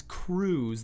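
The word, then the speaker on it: krewe: know there are these crews they call themselves they're they're called crews and crew is spelled k-r-e-w-e and a crew is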